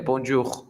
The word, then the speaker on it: bonjour: saludo, mira, dice que lo tienes que pronunciar como bon y jour. Eso sería bonjour, bonjour. Dice, ten cuidado que la J suena como una L argentina, que es j, j, j, j, j.